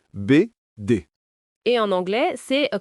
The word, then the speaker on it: BD: Il faut prononcer BD.